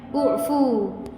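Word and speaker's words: اعفوا: Maka huruf ketiga ini kita lihat harakatnya dammah. Maka biasanya biasanya di ilmu i'lalnya begitu. Ee jika ini domah maka hamzah wasalnya domah. Maka membacanya ufu ufu kalian maafkanlah.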